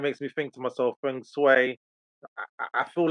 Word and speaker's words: feng shui: So, welcome to our first feng shui or feng shui. It depends how we use the Chinese pronunciation or the European pronunciation.